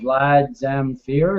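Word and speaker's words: Vlad Zamfir: go like this this uh this guy here Vlad zamere is that how you pronounce it yep that's correct um he's saying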